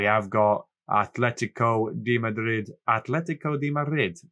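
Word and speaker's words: Atlético de Madrid: Atletico de Madrid. You have to say it Spanish and roll your R's.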